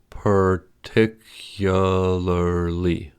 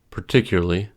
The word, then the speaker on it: particularly: In the dictionary, the word particularly has 5 syllables, particularly. But in everyday speech, it is spoken as a 4-syllable word, particularly, a 3-syllable word, particularly, or even 2-syllable word, particularly.